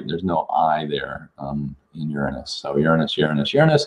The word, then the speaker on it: Uranus: finding G ganbare is Uranus pronounced Uranus or you're in us also how do you avoid laughing it sound of the word Uranus it's Prince Uranus with the accent on the